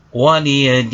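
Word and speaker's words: وَلِيَ دِينِ: Dini dibaca dengan waqaf, maka hukum bacaannya adalah mad arid lisukun. Cara membacanya adalah waliyadin. Dini dibaca waqaf sehingga dipanjangkan menjadi panjang bacaan 6 ketuk.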